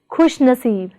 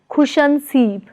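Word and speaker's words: खुशनसीब: Prefix khush plus stem naseeb is pronounced as khushnaseeb, not as khushanseeb, but as khushnaseeb.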